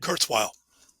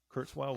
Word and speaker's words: Kurzweil: the graveyard like Kurtz oh gosh I cannot pronounce that man's name Kurzweil that's it Kurzweil will tell you there was something intrinsically human